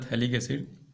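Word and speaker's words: phthalic acid: P लिखा गया है लेकिन P वहाँ पे साइलेंट रहता है, नाम होता है थैलिक एसिड।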